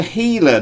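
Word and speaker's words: Gila: hummingbird and leming then there is apparently a healer monster pronounced sorry spelled giler heiler monster and a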